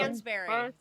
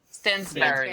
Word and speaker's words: Stansbury: her last name I don't know how to pronounce I stand Stansbury Stansbury yeah.